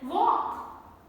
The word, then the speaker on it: walk: you guess some more could sure then walk talk lk combination then cough half a